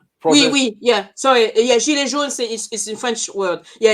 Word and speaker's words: gilets jaunes: Gilets jaunes is in French word. Yeah, yellow vest. Sorry, but the pronunciation is gilets jaunes.